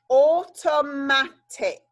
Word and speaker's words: automatic: Okay, so here is the or sound at the beginning. Or, t, o, a, t, I, k. Automatic.